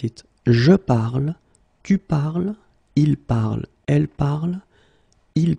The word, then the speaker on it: parles: So it does mean that even if you write them differently, E, ES, and then ENT, you will pronounce them the same way.